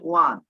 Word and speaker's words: won: তারপরে কিন্তু হ্যাঁ, এটা আমি ওন বলেছি, ওন না উচ্চারণ, এটার উচ্চারণ হচ্ছে ওয়ান। চিন্তা করেছো, এটা আমরা কখনো ওয়ান উচ্চারণ করেছি? আমরা তো উইনের ফার্স্ট ফর্ম ওন বলেছি, এটার উচ্চারণ হচ্ছে ওয়ান, জাস্ট ওয়ান এর মতো।